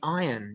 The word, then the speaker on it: iron: It's spelled I-R and iron. So she used to say, get the iron, or say iron. You don't say the r. Unless someone tells you that, you may never know.